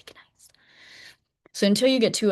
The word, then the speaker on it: gneiss: I should say nice. I know that's how you say it, but I have to say gneiss.